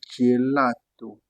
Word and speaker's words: gelato: On aura gelato. Gelato ici c'est la glace alors la crème. Donc pensez au mot girafe.